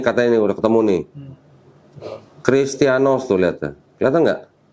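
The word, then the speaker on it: Χριστιανός: Perhatikan, yang huruf I ini perhatikan. Seperti huruf H, tapi pernah dihapus. Jadi I. Jadi tadi ini huruf eta. Setelah dihapus, dibacanya jadi huruf I.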